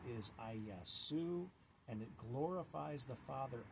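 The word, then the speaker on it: Ἰησοῦς: letters and those Greek letters produced the name aasu that's how you pronounce the Greek and since it's a transliteration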